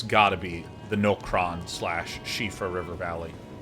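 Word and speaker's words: Siofra: be the nokron slash shifa river valley that i learned is pronounced sheep bro i mean like so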